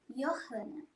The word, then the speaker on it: Johanna: Johanna. Sim. Como se pronuncia de maneira correta esse teu nome?